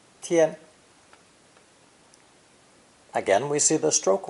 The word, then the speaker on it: 天: heavens or even god this character is pronounced with a high and flat first tone tien tien again we see the